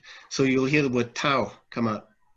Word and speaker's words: Tao: So you'll hear the word Tao come out. Really, it's pronounced Dao.